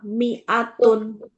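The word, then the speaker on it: مِائَةٌ: Mi'ataini sama mi'atun. Ya. Qur'annya loncat. Hati-hati mi-nya dibaca pendek.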